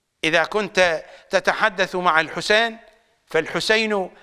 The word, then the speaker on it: الحسين: كنت تتحدث مع الحسين فالحسين حاء سين ياء نون اما ان تسرع في اللفظ فلا اشكال في ذلك ذلك ذلك ولكنك تلفظ اللفظ الصحيح فلا اشكال في ذلك البعض